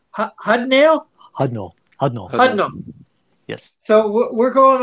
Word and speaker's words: Hudnall: teamed up with writer, how do you pronounce Hudnall? Hudnall.